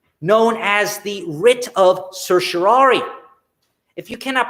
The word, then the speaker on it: certiorari: will, a catch-all known as the Writ of Certiorari. If you cannot pronounce that Latin word, Certiorari, you are not alone.